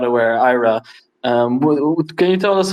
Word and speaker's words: Ira: onchain and offchain with era green and Gan BR good evening gentlemen good evening evening thanks for having us I I my name is actually pronounced Ira Ira I'm I'm sorry no